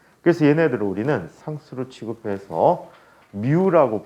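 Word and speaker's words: μ: 얘네들은 우리는 상수로 취급해서 미우라고 부르게 되는데 그랬으면 자로 뭐라고 미우라고 읽어 주시면 돼요 뮤라고 읽어주는데 뮤라고 표현해주고 나중에 이거를 마찰계수라고 불러요 마찰계수라고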